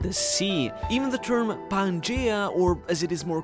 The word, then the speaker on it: Pangaea: Even the term Pangea, or as it is more correctly pronounced, Pangaea, is derived from Gaia, the goddess that is Mother Nature herself in Greek mythology and embodies the earth.